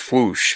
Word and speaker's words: Fwoosh: It's technically a sound effect. Like I can't. Technically, it's just Foosh. It's not, but people call it the Foosh.